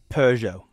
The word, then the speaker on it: Peugeot: What's Peugeot?